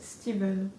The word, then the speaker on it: Stephen: D'ailleurs, j'ai entendu dire qu'on était censé dire Stephen King et pas Stephen, parce que l'anglais est une langue étrange et que ce prénom, même s'il s'écrit Stephen, il se prononce Steven.